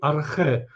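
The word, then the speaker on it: ἀρχή: filozofii początek inaczej zasada po grecku to brzmi Arche w wymowie klasycznej archiwum greckim Co to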